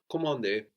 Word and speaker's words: commander: So again, the N here that we have at the end of the syllable is kind of silent, no? Commander.